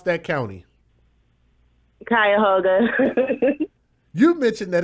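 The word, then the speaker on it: Cuyahoga: You got to got to you got to tell me the uh how do you pronounce that county? Kyhoga.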